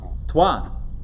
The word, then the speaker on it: Troyes: Twa. There you go. Twa. T-R-O-Y-E-S. Yeah. Twa. So Twa. Born in.